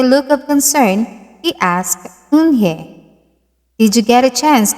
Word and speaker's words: Unhei: Everyone tried to say it. Yuhei! Unhei! Unhei! Unhei said her name again slowly and clearly. Soon the kids began to say it better.